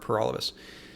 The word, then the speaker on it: Paralovos: thank you for watching my name is pur all of us that rhymes with for all of us I'm the People's Party